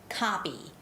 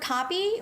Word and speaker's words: copy: coffee but copy copy copy so the word copy when i say that word copy i open up my jaws more right copy copy or coffee coffee okay so anyway